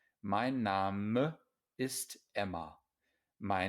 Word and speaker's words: Name: my name is emma careful here this looks like the english word but in english we say name in german an e at the end of a syllable is always pronounced my name is emma my name